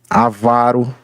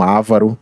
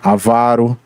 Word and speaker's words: avaro: Então, por exemplo, aqui em termos de paroxítona, nós temos algumas: acórdão, âmbar, ambrosia, avaro, certo? E não ávaro, avaro, aziago, barbaria, cânon, caracteres, cartomancia, ciclope, edito, epifania, exegese, filantropo, fluido e não fluido, certo?